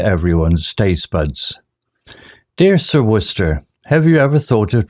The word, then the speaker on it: Worcester: the idea of Explorations the villagers found it peculiar how sir worcester's name was pronounced Worcester a mystery in itself